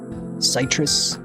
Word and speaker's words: Citrus: My name is Citrus. Citrus. That's how you pronounce it.